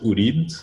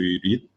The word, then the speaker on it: Ureed: So previously, like a couple of months ago, we used to pronounce it Ureed, but we realized that was a major issue when it comes to how people read it.